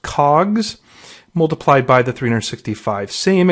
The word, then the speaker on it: COGS: cost of goods sold that would be pronounced cogs multiplied by the 365